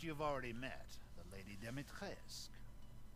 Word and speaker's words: Dimitrescu: The first you've already met, the Lady Demetresque. Oh, you don't pronounce the U then.